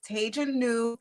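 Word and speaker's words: Taij New: all that wonderful stuff so my name is tejanu that is i always gotta spell it that's t as in thomas a i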